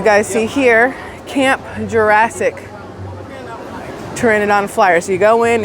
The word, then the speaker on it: pteranodon: I call it the pterodactyl ride because it looks like a pterodactyl, but it's called a pteranodon, or pteranodon because it's got a silent P in the beginning.